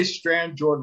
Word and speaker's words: Strandjord: I say Strandjord like it's an English word, but that's not how it's pronounced in Norway.